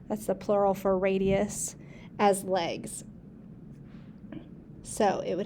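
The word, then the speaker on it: radii: be has two radiuses actually that's pronounced radi that's the plural for radius as legs so it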